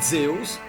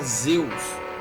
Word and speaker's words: Zeus: Só que a palavra Zeus, em grego, a pronúncia dela é similar à nossa em português Deus.